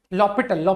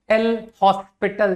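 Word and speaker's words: L'Hôpital: लॉ पिटल है ना एल हॉस्पिटल जो मर्जी हो बोलो है ना ओ एस साइलेंट पढ़ते हैं यार लॉ पिटल है ना बाकी कोई दिक्कत नहीं मैं खुद अपने स्कूल डेज में इसको एल हॉस्पिटल बोलता था है ना राइट तो जरा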